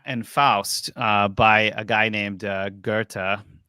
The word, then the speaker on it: Goethe: In Faust, by a guy named Goethe. That's how they pronounce it over there, but it looks like it's spelled Goth in English. But anyway, Goethe.